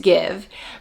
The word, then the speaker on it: GXVE: to finally be watching give and it is pronounced give even though it's g x v e it is pronounced give bringing a makeup obsession